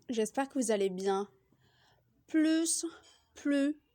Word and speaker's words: plus: bonjour à tous j'espère que vous allez bien plus pleut plus ce sont des mots qui s'écrivent pareil mais